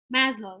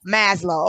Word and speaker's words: Maslow: thing i keep i always forget how to pronounce that but it's that pyramid say it again maslow yes maslow okay um that pyramid of the things that